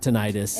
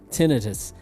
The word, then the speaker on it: tinnitus: that so here's what i learned it's not pronounced tinnitus if you're in the united states nope it is doctors pronounce it tinnitus and he has it and he's been i